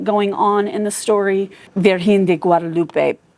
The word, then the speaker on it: Virgen de Guadalupe: Virgen de Guadalupe probably is closer to the right pronunciation.